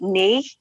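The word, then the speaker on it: N&Y?: I say that and he goes oh you pronounce it nee so I need to know these things because otherwise I'm going to say nice nice you know and then you sound like an idiot so that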